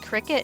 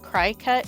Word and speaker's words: Cricut: kind of like apparently it's pronounced Cricut and not cry cut which I always thought